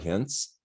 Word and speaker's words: Hince: today i have hintz with me is this how you say your last name right hence it is yes rhymes with prince so again like the